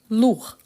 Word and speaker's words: lourd: parfait donc son contraire lourd lourd je ne prononce pas le D par contre quand je